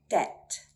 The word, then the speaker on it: debt: So the theory, we do not sound out the letter B when it comes before a T or an M. Let's look at some examples. Debt, debt.